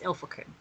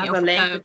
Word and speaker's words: Ilfracombe: Whenever it ends in like C-O-M-B-E, you don't. No B. It's Ilfracombe. They kept saying Ilfracombe and it was getting on my nerves.